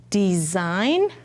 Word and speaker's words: design: Design has the nn at the end. G doesn't make a sound.